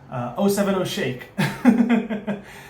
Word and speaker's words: 070 Shake: And by the way, it was confirmed to me by somebody who was from New Jersey that it is 070. 070 Shake. Apparently it's the zip code, and that's how they say it in New Jersey.